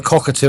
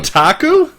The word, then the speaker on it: Kotaku: It's either cockatu or You know what I'm talking about. The one I can't pronounce properly. Kotaku. Yes. Yes. I always say it's cockatu. I don't really know why. It just it doesn't come out properly.